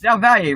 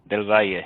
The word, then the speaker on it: Del Valle: It's Zelvalier, right? I was 20 years I've known you. I've never pronounced your last name right. Zelvalier, right? Del Valle, yes.